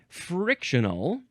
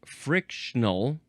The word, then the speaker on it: frictional: Okay, moving on to frictional or just frictional. Two syllables. I prefer the three syllable version.